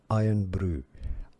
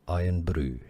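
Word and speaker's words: Irn-Bru: The Scottish pronunciation used in Scotland, iron brew. Iron brew. Now, it's generally said in the UK generally, or in English, iron brew, as in a brew, when you brew something.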